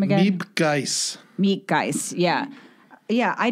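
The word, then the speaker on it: Miep Gies: Miep Geis.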